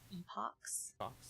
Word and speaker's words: Epochs: Epochs, like epoxy. Epochs. Did I butcher it when I said Epix TV? It's not an IX.